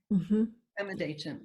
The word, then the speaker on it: Pema Dechen: Pema Dechen, okay, Ingmar Pema Dechen.